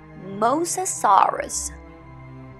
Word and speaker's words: mosasaurus: you know the name it's mosasaurus mosa soros mosasaurus next dinosaur is very popular